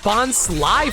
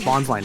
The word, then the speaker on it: Bonsly: it wasn't the movie it was also bons Sly for the longest time as well in the anime it's bonsly nowadays yeah yeah so that's